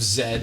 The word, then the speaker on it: Z: the pronunciation zed as zed is the british pronunciation and z is chiefly american so it's just because